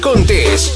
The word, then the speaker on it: Contés: Esto es Mi Rutina de Trabajo con Contés, con acento en la E.